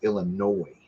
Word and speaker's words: Illinois: So, you know, Sedra, it's Illinois, not noise.